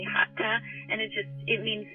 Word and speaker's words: Hatha: main moves yeah um most people pronounce it hasta but it's actually hata and it just it